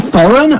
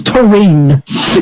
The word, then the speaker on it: Thorin: Apparently, it's not Thorin. Apparently, it's Torine.